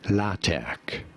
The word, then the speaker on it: LaTeX: If you're talking about the software system, this is said as LaTeX. It is generally spelled with a capital T in the middle if you're talking about the software, LaTeX.